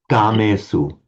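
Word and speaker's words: kāmesu: Just try not to make it with that puff of breath. Gamesu.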